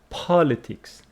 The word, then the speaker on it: politics: and you know that it is political with distress on the second syllable but politics politics first syllable political